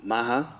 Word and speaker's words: Maha: Let me just, so Maha, right?